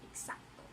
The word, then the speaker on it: exacto: So the X here will become KS, exacto.